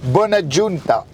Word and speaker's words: Bonaggiunta: Aujourd'hui, j'ai la chance d'avoir dans ma voiture, attention, j'ai fait une petite présentation, Madame Janine Bonaggiunta. Est-ce que je l'ai bien prononcé?